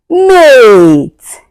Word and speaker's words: mate: mate You can hear the sound of a and e goes silent.